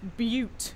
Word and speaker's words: Butte: can't get to it it's pronounced Butte cuz it's a beaut it's to calling it